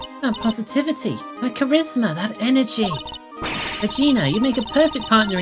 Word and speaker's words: Regina: the main character is called Regina it is pronounced Regina stop trying to make me say vagina because